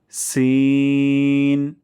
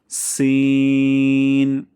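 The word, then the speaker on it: سين: যা next সিন যেবার আগা এবং সামনের নিচে দুই তাদের আগা থেকে পাতলা সাউন্ড উচ্চারণ করব সিন বাতাস বেশি বের হবে সিন নেক্সটশি জিবার মধ্যখান এবং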